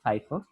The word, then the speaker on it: FIFO: এটার উচ্চারণটা হলো ফাইফো।